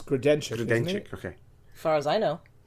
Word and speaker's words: Grodenchik: It's Grodenchik.